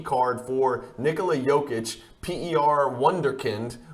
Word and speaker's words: Wunderkind: for Nikola jokic per wonderkind or wunderkind I think is how they would pronounce it in Germany bgs9 Four Color patch